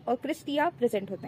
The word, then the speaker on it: cristae: Inner membrane जो है inner lining form करती है, जिसे हम अगेन क्रिस्टी बोलते हैं, विच स्पेलिंग इज द CRISTAE.